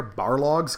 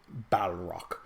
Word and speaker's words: Balrog: And the other things you could throw in here, Barlogs, because there were ample amount of Barlogs. Or I'm not saying it right, Balrog.